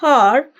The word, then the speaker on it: hour: Now, whenever we have the word hour, it is not actually har. Its pronunciation is r. So it is r. H is silent over here.